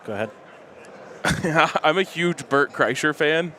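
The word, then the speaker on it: Bert Kreischer: huge Bert ker fan yes I knew his name was not bort Chrysler but they literally had a bit on their show about how no one can ever say his name right so I leaned into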